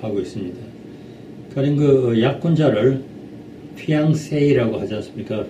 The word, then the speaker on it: fiancé: 가령 약혼자를 fiancé라고 하지 않습니까? fiancé, 둘째 음절에 앙 하는 둘째 음절에 액센트가 있는데 이 중류 사람들은 액센트를 셋째 음절에 세이에다 넣습니다. 그 피앙세이 이렇게 말하는데 그건 사실 그 틀렸는